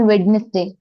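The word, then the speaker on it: Wednesday: है in summer in वेडनेसडे इन वेडनेसडे कितने दिन होते हैं वेडनेसडे में ऑन वेडनेसडे ऑन वेडनेसडे और वेडनेसडे नहीं कहते जब डी एन एक साथ आता है तो डी साइलेंट हो जाता है वेडनेसडे वेडनेसडे वेडनेसडे हां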